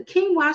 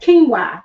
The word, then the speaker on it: quinoa: We have quinoa. That's the star. Listen, put in the chat if you like quinoa. And I know the way it's spelled, it's spelled like q u i n o.